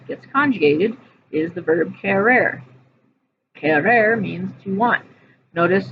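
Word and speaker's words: querer: stem changing verb gets conjugated is the verb ker. Ker means to want. Notice in the infinitive it's spelled q u e r e r.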